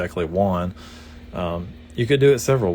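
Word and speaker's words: Juan: I read it back I see j-u-a-n I say oh that's that's one you know I get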